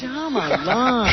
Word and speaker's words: Shyamalan: He's no Hitchcock cuz Hitchcock you can at least pronounce this guy. Might shall a genius. It's Shyamalam.